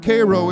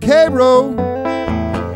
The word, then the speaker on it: Cairo: it's about the town Cairo Illinois spell Cairo but pronounce Cairo the town was vastly